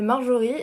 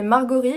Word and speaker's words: Marjorie: titre de ma chronique, je m'appelle Marjorie et on va se mettre tout de suite d'accord, ça s'écrit avec un J et non pas un G, car sinon ça fait Margorie, et bien que je